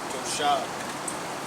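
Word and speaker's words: תושב: Strong's H, 8453, and the pronunciation is Toshab.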